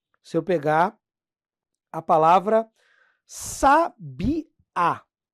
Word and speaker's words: sabiá: Por exemplo, aqui, ó, se eu pegar a palavra sabiá. Ó, palavra sabiá. Ela é acentuada e o acento vai indicar que a tônica é a última.